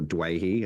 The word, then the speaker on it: Doueihi: Without playing an NRL game in anger in over a year, Adam Doueihi has, or Doueihi, as I think is the correct pronunciation, has re-signed with the club for a further 12 months.